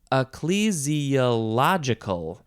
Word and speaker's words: ecclesiological: is not how you say this word ecclesi ecclesiological there we go Ecclesia lot ecclesiological that is